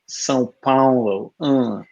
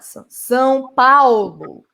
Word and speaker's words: São Paulo: it's more of an awe though, Paulo. like Sao Paulo, Paulo. like ow, like not wow, like yeah. The first one is São. The second one is not São Paulo.